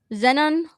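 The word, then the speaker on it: xenon: This at the same time, it's like Zenon. I'm trying to remember the name. I can't remember the name. Yeah, an X in Greek would be pronounced like a Z.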